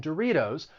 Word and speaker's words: Doritos: included it is because that tea in doritos i am going to pronounce it with a flap t which is very common in the united states so when the t comes between two vowel sounds you're going to use a flat t it sounds like a